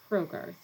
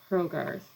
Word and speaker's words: Hrogarth: an unusual one um i pronounce it hrogarth so with a soft h at the beginning herrogarth and i confess to